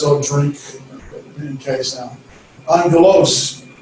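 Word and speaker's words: ἄγγελος: then uh as i'll drink in case now angelos it's not obvious it's on ghettos and so that's just pronunciation uh the vowels we talked about last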